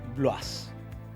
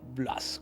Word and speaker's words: Bloise: Bueno, es curioso escuchar la pronunciación del apellido, el apellido Bloise, quizás de origen francés. Hace 200 años probablemente en Francia le decían Blois, pero nuestra familia migra a toda Italia y en Italia es un apellido bastante común